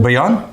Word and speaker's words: Bouillon: Bouillon? Yeah, I think 2 L's makes that. Y sound?